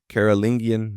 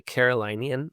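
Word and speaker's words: Carolingian: I'm so glad you pronounced that because I kept pronouncing it in my head, the Carolinian, like North and South Carolina, but I know that's not what it was.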